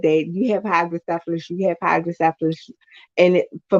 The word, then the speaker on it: hydrocephalus: I was growing up, is that I had hydrocephalus, but the attributes of someone with cerebral palsy. So all my life, it was always said that you have hydrocephalus, you have hydrocephalus, and for most people, you